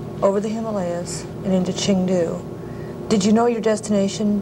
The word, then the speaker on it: Chengdu: Of course, everybody surmised that was Chengdu, T-U was the way we pronounced it.